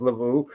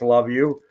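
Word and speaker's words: Luvu: just gonna say it's probably not pronounced Lau but it's love you Bobby Wagner is a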